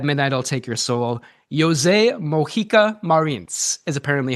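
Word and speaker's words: José Mojica Marins: This is the director, coowwriter, and star of At Midnight I'll Take Your Soul, Jose Moika Marin is apparently how you pronounce it.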